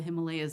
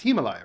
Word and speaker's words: Himalaya: Reveals just how dramatic the story of the Himalayas is.